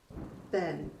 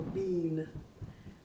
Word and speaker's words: been: you must also add ben or bean americans pronounce it ben but in british english they say bean i have some students